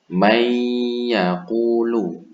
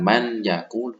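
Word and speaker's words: مَن يَقُولُ: Contohnya cara membacanya may yaqulu, may, bukan man yaqulu, tapi may yaqulu.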